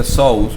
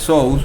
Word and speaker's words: Zeus: como zeus o dios zeus se pronuncia shows o sus en griego y fue conocido llamado